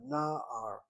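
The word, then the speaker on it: נער: Notice how I say that word, na'ar. Take the word ya'ar. Na'ar is a young man, and ya'ar is a forest. Why the accent where it is on the first syllable?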